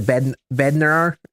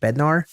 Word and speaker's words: Bednar: We'll get the Bed Beder in here. Why I say it like that? Bednar.